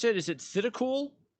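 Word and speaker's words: Thitikul: And now, how do you pronounce it? Is it Thidakul? Thidakul, yeah.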